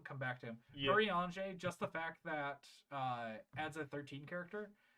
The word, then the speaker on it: Urianger: Urianger is how you pronounce it.